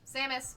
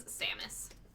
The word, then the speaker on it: Samus: Samus it's saus no the way R it's samis not zus I was going to make a